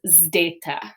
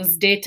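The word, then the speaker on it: ζῆτα: And that is zdeta. So zdeta, and it's that zd sound, right? It's not just a Z sound, it's a zd sound.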